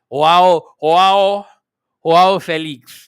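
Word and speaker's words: João Félix: Now, let me pronounce his name properly. I saw a TikTok video that day. Joao Felix, not Felix, Felix.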